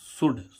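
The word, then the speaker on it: should: डी से पहले एल आता है तो एल साइलेंट रहता है। अब हम देखें इसमें जैसे कि एस एच ओ यू एल डी शुड शुड means चाहिए।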